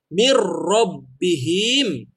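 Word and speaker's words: مِن رَّبِّهِمْ: simple ya gamenya juga jangan panjang jangan mirrobbihim jangan dipanjangin tapi langsung Jin selesai tegas kita ngomong mirrobbihim nggak ngaji panjangnya jadi mirrobbihim enggak karena tidak ada tanda ia mati disini jadi kita bikin pendek ya saya contohkan sekali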